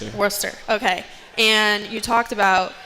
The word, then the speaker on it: Worcester: So, you're from the East Coast and pronounce it for me. Worcester.